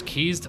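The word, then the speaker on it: quay: But native English guy is keys pronounced keys or quaz keys. Obviously qu u a y is obviously key.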